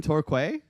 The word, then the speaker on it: Torquay: You're from Torquay? That's awesome, man. I called it Torquay. You got to call it Torquway now.